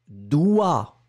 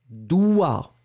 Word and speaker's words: doigt: eaux il était d'accord mais on ne prononce pas le g et ça veut dire